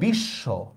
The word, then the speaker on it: বিশ্ব: Same দেখেন বফলা দিয়া, মনে করেন আমি লিখলাম বিশ্ব, দেখেন আমরা কিন্তু শটা 2বার উচ্চারণ, বিশ্ব এভাবে বলি না আমরা, বিশ্ব শটাই আমি 2বার উচ্চারণ করতেছি।